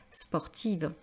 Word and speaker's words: sportive: dirait Paloma est très sportive alors bien plus que moi alors ici on va prononcer le S pourquoi parce qu'ici on a l'idée non pas que c'est négatif on va voir ensuite l'aspect